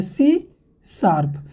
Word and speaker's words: C#: language अभी यहां पर इस हिसाब को प्रोनाउंस कैसे करेंगे आपको बोलना है सी शार्प ये होता है प्रनंसीएशन